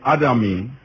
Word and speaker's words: Adami: Is that Adami you pronounce it?